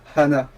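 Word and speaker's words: 花: par exemple on dit Hana en prononçant le h faut le prononcer pour faire Hana ça veut dire fleur et si tu dis sans prononcer le H Ana ça veut dire cou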